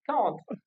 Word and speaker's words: can: Ah I can't. Non pas I can't. I quoi ? I can. I can. Yes. On prononce pas le T. Si on prononce c'est la négation.